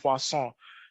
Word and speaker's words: Poisson: first one uh is a poisson regression it's pronounced poisson you might also think it's also a log